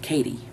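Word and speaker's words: Cady: And that is the name of Katie. And it's spelled C-A-D-Y, like Cody, but with an A.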